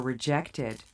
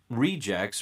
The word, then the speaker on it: reject: So the verb stress comes to the second part, and the noun's stress comes to the first part.